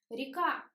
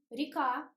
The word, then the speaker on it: река: Река. We write ye, but we pronounce e. Река.